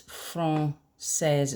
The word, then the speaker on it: française: If that wasn't there, you might expect this word to say "français". But to make it a soft C, it's "française". It's got the cedilla, okay?